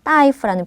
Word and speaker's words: 大夫: 큰 대자가 따니까 大夫이지만 의사라는 명사의 표현을 쓸 때는 따이, 발음 주의하셔서 따이프라는 표현 꼭 기억을 해주세요.